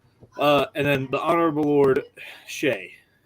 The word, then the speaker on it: Seaghdha: And then the Honorable Lord Shay, because that's how you actually pronounce that very long Irish name.